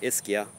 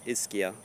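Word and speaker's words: Ischia: yes indeed Negron green isia yes that's how you pronounce it isia a very underrated fig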